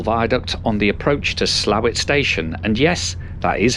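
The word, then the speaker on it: Slaithwaite: Soon we're crossing the Crimble Viaduct on the approach to Slowett Station, and yes, that is how you pronounce it.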